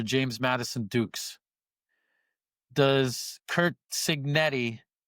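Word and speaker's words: Cignetti: Does Kurt Signetti, right?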